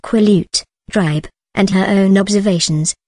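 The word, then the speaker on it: Quileute: from her friend Jacob Black of the quo pronounced quut dribe and her own observations that Edward and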